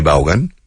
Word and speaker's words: Vaughan: Yes, la gente dice my last name. Always. They say, ¿cómo se pronuncia su apellido? I say Vaughan. No, pero en España no, fuera. De Vaughan. ¿Cómo? Vaughan. Vaughan, o sea, alemán. No. Vaughan is Welsh.